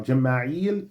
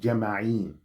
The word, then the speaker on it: Jama'il: Okay, now Jama'il today, well, dialectically, is sometimes pronounced Jama'in.